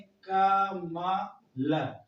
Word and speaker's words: कमल: अगर हम इसको जोड़े, अब बताइए अगर हम इसको पूरा लिखें का मा ल, तो बताइए हमारा कमल हुआ कि नहीं हुआ?